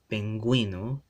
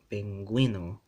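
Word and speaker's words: pingüino: So we have guisado, penguino. This is one of those exceptions where the U has to be pronounced because I put the diaresis up there, right? The umlaut accent, penguino, penguino.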